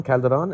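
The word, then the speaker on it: Calderone: Tell me about this alter ego, Joe Calderon? Yeah, Calderon. Calderon? Yes. O-N-E, like one, Calderon?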